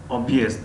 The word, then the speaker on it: объезд: بنابراین این علامت در اینجا آمده است که دو هجا را از هم جدا کند و هجای یکم غفص تلفظ کرده می شود و هجای دوم باریک و طبیعی تلفظ کرده می شود.